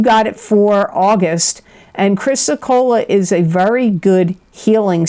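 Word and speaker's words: chrysocolla: best gemstone Crystal I got for you is chrysocola and I'm going to spell that because sometimes people don't know what I'm saying here it's c h r y s o c o l l a chrysocola we don't see this pop up much but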